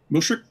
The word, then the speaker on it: mushrik: punished for being me let me know if i pronounce this right music m-u-s mushrik that's right thank you okay wait